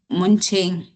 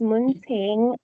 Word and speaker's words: Ming: Um, Munching. Munching. Sorry for pronouncing your name wrong. Um, it's Ming.